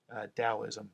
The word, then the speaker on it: Taoism: have so this whole thing is based in Taoism it's spelled with a tee but it's pronounced with addie Taoism it's a Chinese philosophy and it's the energy